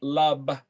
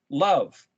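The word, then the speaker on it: לב: spelled Lamed Bet, pronounced lab or love, because the B and the V have the same phonetic. Love.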